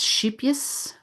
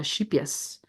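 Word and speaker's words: Scheepjes: case anybody's interested uh it's shipus which is spelled s c e p j uh shipus it's a Dutch company um so if you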